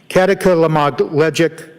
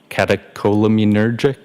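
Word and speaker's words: catecholaminergic: Um, katakilmagleic tacocardia. I probably butchered that up. Does that ring a bell? Uh, catacolaminergic.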